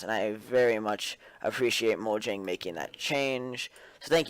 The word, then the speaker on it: Mojang: I don't even care if it's Swedish. It's Mojang. I pronounce it the technical pronunciation it's supposed to have, so that's what I use.